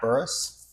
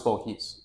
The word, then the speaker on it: Bourhis: What's Bourhis? Bourhis is the French pronunciation of my last name, but we butchered that when my family came to the U.S.